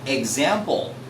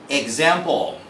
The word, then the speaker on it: example: is a particular rule if letter X is followed by a vowel you have to pronounce it as etz for example actually I just said it I said example because a is a vowel X and then following a vowel is a so X becomes eg Z for example example or exact how about